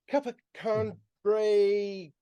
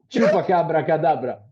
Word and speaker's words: Chupacabra Cadabra: Well, I'm trying to pronounce it. Capacandre, whatever. Chupacabra cadabra. Thank you. That's the name.